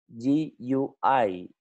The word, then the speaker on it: GUI: Ya, sebenarnya bacanya bukan GUI ya. GUI ya, seperti itu.